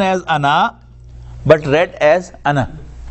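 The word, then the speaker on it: أنا: You know, it is written as Ana, but read as Ana. Alif is not pronounced.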